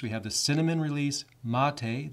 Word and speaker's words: MATE: have the cinnamon release mate' that's pronounced Mattei in the linux world we pronounce things differently than you would expect then we also have